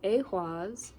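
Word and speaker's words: Ehwaz: Pronounced awas.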